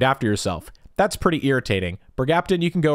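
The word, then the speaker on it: bergapten: Bergaptin, you can go right into A tier. Plus, you rhyme with mercaptan, and mercaptan stinks, so this definitely belongs in S tier.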